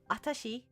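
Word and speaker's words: あたし: So they have watashi, and then if you remove the W and just pronounce it like atashi with just the A at the front, it will be a very feminine form, and it's informal.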